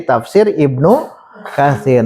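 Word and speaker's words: تفسير ابن كثير: Yang kedua tafsiru, jangan ditanwin, tafsiru Ibni Katsirin. Tapi diringkas jadi tafsir Ibnu Katsir.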